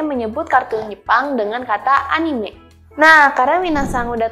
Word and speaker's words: anime: kita adaanime nah tapi banyak dari kalian yang menyebutnya itu Enim padahal kata ini sebenarnya cara mengucapkannya adalah anime sebenarnya ini merupakan kata